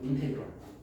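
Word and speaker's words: integral: 근데 S라고 읽지 않고 인테그럴이라고. 인테그럴 인테그럴 적분이라는 단어야.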